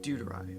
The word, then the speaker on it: Dudarai: Dudarai. All right, the accent is on the do.